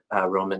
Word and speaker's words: Roman: You pronounced Roman.